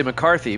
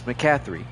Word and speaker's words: McCathry: I want to say McCarthy, but it's McCathry.